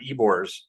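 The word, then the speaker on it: Ybor: still pronouncing that right it's y b o r Ebor I'm pretty sure how it's pronounced and this this place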